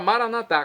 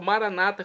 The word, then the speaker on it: maranatá: E agora maranatá, como dizemos nós católicos, ou maranata, como dizem nossos irmãos separados das comunidades evangélicas ou protestantes. Não importa a pronúncia, o significado, é o mesmo.